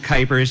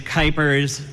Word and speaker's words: Kuipers: That is pronounced Kuipers. You've probably seen it either on a sign or a program or something like that and wondering how the heck do you pronounce it. I call that my Pete Buttigieg issue. So it is Kuipers, and I've been running